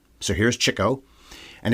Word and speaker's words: Chico: so here's Cho and it's pronounced that way because it was all about his love of the ladies the chicks of course that's not his real name anyway he loved the chicks so he's Cho I always thought it